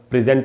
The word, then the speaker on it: present: किसी को कोई चीज़, जब ये वर्ब की तरह आप यूज़ करेंगे तो इसका प्रोनाउंसिएशन क्या होता है वो हमको सीख लेना चाहिए। तो वो होता है दोस्तों प्रेजेंट।